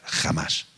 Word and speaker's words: Hamas: En verdad es Hamas con H, pero la H se pronuncia como una G o una J, Hamas, que es la que realmente dicen que tiene la autoridad en la franja de Gaza.